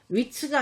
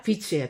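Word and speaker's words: Wits: 위츠가 아니라 비츠예요. 또 V로 발음되죠.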